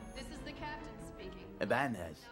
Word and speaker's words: Ibanez: Ibanez. That's how you say it. Wasn't there a tilde on top of the end? Wouldn't it make it Ibanez?